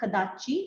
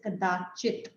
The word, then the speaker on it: कदाचित्: There are two things to note when you're pronouncing this shloka. In the first line, it is not kadachi, it is kadachit.